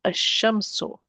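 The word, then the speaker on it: الشمس: I'm going to delete one of the vowels and I'm not pronouncing the lam. Ash-shamsu.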